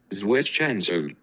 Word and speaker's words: zwischenzug: called zwischenzug, and I will show you the pronunciation by clicking on this. Zwischenzug.